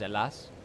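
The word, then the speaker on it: Ελλάς: like the actual name of Greece, which is alas, not Greece. It's alas, are the Chinese people that call us, and again, my pronunciation is probably bad, but they call us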